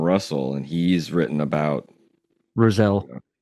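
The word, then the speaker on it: Rousselle: and he's written about Roselle it's Roselle I believe so yeah I know it's spelled r o u SS e l l e I believe rousel yeah I mean something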